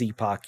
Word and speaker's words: Epoch: it wrong Epoch oh yeah maybe it is Epoch yeah you're right my bad as soon as